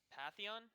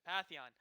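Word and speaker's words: Pantheon: me and it looks like SSC is going Patheon that's how you pronounce it yeah Patheon and which is very good he's also very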